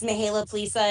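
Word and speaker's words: Mihaela Plesa: chair of this group, Mihaela Plaza. Am I close, Mihaela? Thank you so much, Is that close to Senator. pronunciation? Yes, you did very well. Thank you. Good morning, everybody. My name is Mihaela Plisa, and I proudly serve as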